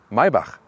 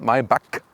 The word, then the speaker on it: Maybach: s-class segment and mybach listen and repeat maibach not my buck because the germans they have this ch as so and the ultimate german pronunciation would be mercedes maibach that's it so now you know